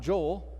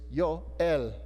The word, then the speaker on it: Yoel: This, in Hebrew, is not Joel, it's Yoel. So you would say it like this, Yoel. Yoel, Joel. You can hear it, right?